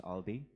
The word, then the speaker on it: Aldi: My name is Aldi. That's ALDI, pronounced Aldi, right?